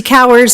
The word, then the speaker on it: Bowers: Next, we have Christy Bowers. Oh. Sorry, rhymes with flowers. Oh, Been that since kindergarten. sorry about that. Hi there, I'm Christy Cowers, a resident of Erie Highlands, Metro District 1.